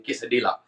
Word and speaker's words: quesadilla: quesadilla, quesadilla basically it's a Mexican, और कुछ लोग शायद प्रोनाउंस करें गलत, तो इसमें कुछ समझने की बात नहीं, quesadilla, quesadilla, it's because L इस पे साइलेंट होता है, जैसे कि jalapeno में